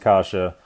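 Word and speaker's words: каша: we have the kasha it's spelled kwa it's pronounced kasha we have two of these Casas in here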